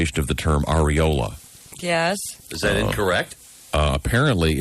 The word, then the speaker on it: areola: This guy says it should be pronounced with the emphasis on the E instead of the O. The areola? Areola.